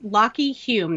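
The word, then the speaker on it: Lachy Hulme: one section he was super funny so yes lockheed hume that's how you pronounce it but it's spelled l-a-c-h-y-h-u-l-m-e and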